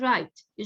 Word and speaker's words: right: يعني for example right, G وال HT بيجوا مع بعض بس ال pronunciation بس لل T, GH silent.